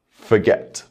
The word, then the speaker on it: forget: Next, we'll try a new word, forget. Forget. The stress is on the second syllable.